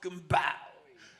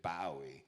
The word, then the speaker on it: Bowie: this David bow cuz that's how you guys used to pronounce his name it was Bowie in the old days he only changed it to Bowie later since we got so Americanized but he was David Boi and and Billy barfed